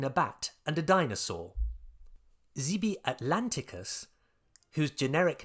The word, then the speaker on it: Zby: Zeby atlanticus, whose generic name is spelt Z-B-Y, is another generic name that comes